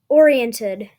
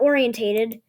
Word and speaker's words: oriented: It's pronounced oriented, not orientated.